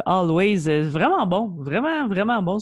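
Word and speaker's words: Alvvays: canadien always en fait ilécrivve avec de V là mais on le prononce always vraiment bon vraiment vraiment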